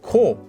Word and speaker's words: 子: ended with this character which in japanese is read as ko now you might know